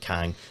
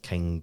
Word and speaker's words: Kang: getting like the main kind of projects like King Dynasty and all that kind of stuff what did you say Kang Dynasty stuff he said the king don't understand